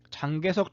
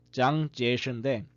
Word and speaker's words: 장제스: 보통 우리나라에서는 그 한문 발음 그대로 읽어가지고 장개석 총통이라고도 알려져 있고요. 영어로는 치앙카이쉑이라고도 알려져 있는데 그거는 이제 중국의 사투리, 민남 방언으로 읽었을 때 그렇게 발음이 돼요. 그리고 중국어 발음 그대로 이제 읽으면은 장제스인데 이 장제스가 본명이 아니에요.